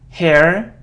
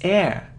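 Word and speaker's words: heir: No, we don't pronounce it. It's subtle. Subtle. It isn't hair or hair. No, it's air.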